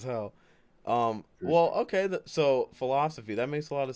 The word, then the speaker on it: FILOSOFI: first off um is is pronounced philosophy so it's pretty much the word philosophy see I always went